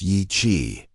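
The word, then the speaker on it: Yi Qi: Yi-Qi, pronounced Yi-Qi, meaning strange wing in Mandarin, wasn't just another feathered dinosaur from the Jurassic.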